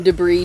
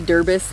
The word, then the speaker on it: debris: you know what i called uh some debris derbis the other day i saw the word in my head how it spelled out and i just phonetically said it and then i was like that's what derbys or deborah's yeah i said